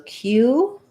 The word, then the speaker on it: cue: So cue and cues have the k sound with a glide and the oo, cue.